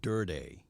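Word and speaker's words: Durde: Oh, so that's how you say his name, Durday. That's the guy that's from over the pond, Durday, and Jay Witt.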